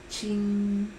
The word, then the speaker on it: 青: El primer carácter, Qin, se pronuncia con el primer tono del chino.